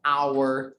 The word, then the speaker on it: hour: and we have some an exception like an hour and honor it starts with a consonant but